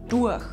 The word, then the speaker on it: Tuch: We also pronounce the “T” of “Tuch” very softly and say “Duach”.